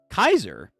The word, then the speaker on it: Caesar: Note Caesar in Julius Caesar is pronounced in the Latin language. That indication of pronunciation is more Kaiser.